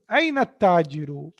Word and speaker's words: at-tajiru: Aina tajiru. Now, this is ta is harfu shamsiya. So, I'm not pronouncing lam here. How I'm saying aina tajiru.